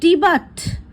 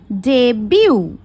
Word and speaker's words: debut: এটার প্রোনাউন্সিয়েশন অনেকে করে ডিবাট বলে, বাট এটার কারেক্ট প্রোনাউন্সিয়েশন হবে ডেবিউ।